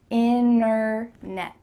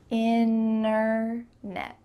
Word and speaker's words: internet: speakers are speaking quickly we're going to cut out that T completely and just say in a net inner net let's go back and